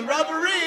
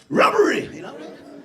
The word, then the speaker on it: robbery: Robbery. You didn't convince me. But robbery. No. No. Robbery. No. Robbery. Yeah. Yeah. Robbery. It's not like rubbery.